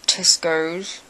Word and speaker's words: Tesco: supermarket in England called Tesco um rhymes with Pesco uh basically uh basically